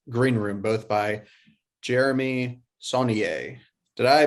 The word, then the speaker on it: Saulnier: blue ruin and green room both by jeremy sonnier did i pronounce that right yes yes checks out with